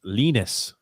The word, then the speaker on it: Linus: and just to clarify linus is pronounced lynas that's right i like